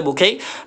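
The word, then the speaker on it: bouquet: लिए कर रहे हैं की एट है लास्ट में तो एट के जो है फ़्रेंच लैंग्वेज वर्ड है और एट होगा तो हम क्या पढ़ेंगे इसको ए सैम पढ़ेंगे बुक है बुक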